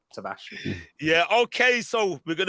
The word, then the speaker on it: Tavares: Nuno Tavares. That's how you meant to pronounce it in Portuguese. Tavares.